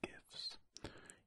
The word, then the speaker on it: GIFs: So we have her to thank for GIFs. Yes, I am a hard G in GIFs.